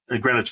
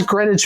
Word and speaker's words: Greenwich: Greenwich Village. Yeah, this is in the village. And it does say like it has Greenwich Village and it says like the W is silent by the way.